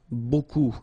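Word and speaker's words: beaucoup: looks a bit strange Buu like that remember you don't pronounce the final P okay then you get this combination of vowels U and you get the sound o so technically it's B okay so it's not difficult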